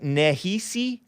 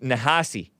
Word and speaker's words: Nehisi: very close ta and it looks like nehisi but it's it's pronounced nahasi coats ta t a